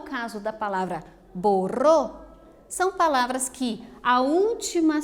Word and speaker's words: borró: Veja que essa palavra que nós estamos analisando, a borrou, tem destacado a última sílaba. E nós percebemos que essa última sílaba destacada é a mais forte. Borro. Tem inclusive um acento indicando isso.